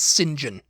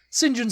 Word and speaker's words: St John: know how you know to pronounce the surname St John as singen singen SM yeah what is